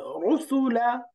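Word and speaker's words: رُسُلًا: এই যে দুইটা দম্মা, রসুলা, রু, রু। দম্মা মানে হলো গোল করা, দম্মা মানে মিলানো। যেহেতু দম্মা উচ্চারণের সময় আমাদের ঠোঁট গোল হয়, এই জন্য জি এটাকে আরবিতে দম্মা বলে, দম্মা।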